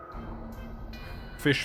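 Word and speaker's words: Ghoti: just this meme if the GH sound in enough is pronounced F the O and women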